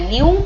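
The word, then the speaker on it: ν: Frequency का symbol होता है न्यू, ठीक है, NU इसको प्रोनाउंस करते हैं।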